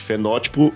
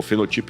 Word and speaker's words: fenótipo: Fenótipo e genótipo. Ou fenotipo e genotipo, como alguns pronunciam.